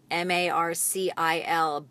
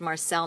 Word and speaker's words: Marcil: And your last name is spelled M-A-R-C-I-L, but it's pronounced Marcel, not Marcil.